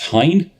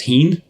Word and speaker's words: Hine: as Taran knows I never know how to pronounce apparently according to the local rep at least it's Hine I'm still think maybe it's Heen or I I don't know it's definitely not